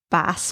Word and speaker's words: Bass: Cup of sugar and a bottle of Bass. Can't a man get a drink in a glass? No, it's a glass. Yeah, but bass rhymes with glass.